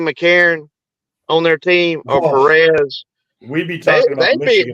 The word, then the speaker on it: Perez: All the way it's Perez.